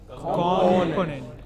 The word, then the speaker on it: component: Component. Yes, but many people, many of us in India pronounce it as component, which is not correct.